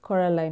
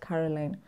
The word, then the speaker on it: Coraline: time she corrects them she's like no it's it's coraline not caroline over and over just